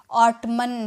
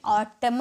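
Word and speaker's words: autumn: नहीं कर पाते हैं इसे लोग ऑटम कहते हैं ऑटम नहीं होता है ऑटम होता है क्या होता है ऑटम और देखिए यहां पर जो लास्ट में आपको एन दिख रहा है ना इसे नहीं पढ़ा जाता है इसे सिर्फ ऑटम ऑटम की तरह और एक वर्ड है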